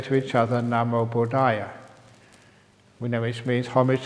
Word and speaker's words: Namo Buddhaya: They say to each other, Namo Buddhaya. We know which means homage to the Buddha, which is useful because it has 5 syllables, Namo Buddhaya.